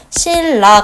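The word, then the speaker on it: 신라: 실라 같은 경우는 이런 식으로 발음이 되는데 어떻게 돼요? 니은하고 리을이었던 게 완벽하게 리을로 일치가 되죠.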